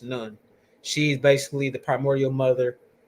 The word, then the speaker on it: Nun: River can be attached to Nu or Noon, which is now pronounced Nun.